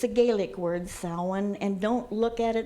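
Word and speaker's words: Samhain: it's a Gaelic word Selwyn and don't look at it and try to pronounce it phonetically because it'll never have but it is not even close to the way it's spelled we have Halloween which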